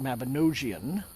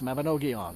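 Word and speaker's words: Mabinogion: I know that Mabanogon has a hard G. I learned that, you know, I I always used to call it Mabinosian, but no, it's Mabanogon apparently.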